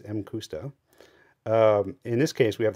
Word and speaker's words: Mcusta: that this is pronounced M kusta and not makusta because it is a Japanese company not a Scottish company so it wouldn't be Mick anything um it's m custo in this case we